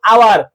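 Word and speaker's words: hour: যেরকম আওয়ার, ঠিক আছে, অনেস্ট, অনার্স, ইয়ার, এটা কি বলতো?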